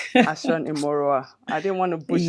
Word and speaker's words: Ashon-Imoroa: Can you pronounce that last name for me? Ashan Immoroa. Ashan Imoroa.